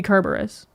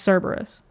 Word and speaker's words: Cerberus: It's like when you pronounce Cerberus as Kerberos, because it's actually supposed to be Kerberos, but it's pronounced Cerberus.